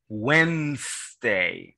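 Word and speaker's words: Wednesday: si usted luego sigue el miércoles que suena when they ignora la de no existe la del sonido when they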